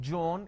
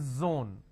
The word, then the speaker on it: zone: It's not John, it is zone.